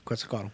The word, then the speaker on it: Quetzalcoatl: Quetzalcoatl. I don't know if I even pronounced that right. Yeah, but that's right. yeah, Quetzalcoatl.